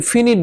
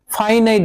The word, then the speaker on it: finite: সেটা হলো ফাইনাইট verb এটার অনেকে উচ্চারণ করেন ফিনিট ভার্ব ফিনিট শব্দের অর্থ হলো বাতি আসলে এটা ফিনিট ভার্ব না এটার উচ্চারণটা হলো ফাইনাইট ভার্ব আরেকটা হচ্ছে নন ফাইনাইট